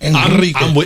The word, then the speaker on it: Enrique: Oh, so you having people roll their R's? I am. Enrique. If it's a Spanish thing, I'm going to say it in Spanish.